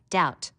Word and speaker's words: doubt: learn how to spell doubt notice the silent B foreign a g that